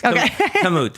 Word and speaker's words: Kamut: the word correctly so is it camut yes kamut we say see I didn't well that was pretty close that was pretty close